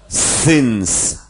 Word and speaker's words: sens: Piszemy e, wymawiamy y. Y, na przykład centralny syns, to znaczy sens, syns, decyzja pysja.